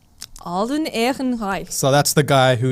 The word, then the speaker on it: Alden Ehrenreich: Alden Ehrenreich. Alden Ehrenreich.